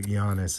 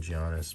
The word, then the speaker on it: Giannis: So Giannis, as you guys have corrected me a million times and told me that's how to say it. I always was calling him Giannis, but you know, it is what it is.